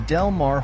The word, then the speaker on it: Del Mar: seaside resort the city Incorporated in 1959 the delmare horse races are hosted on the delmare racetrack